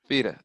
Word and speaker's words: Fifita: And that's how you pronounce it, Fifita? Because I would have said Fifita. Okay. Fifita.